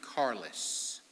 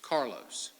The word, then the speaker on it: Carlos: We pronounce it Carlos, but it's Carlos.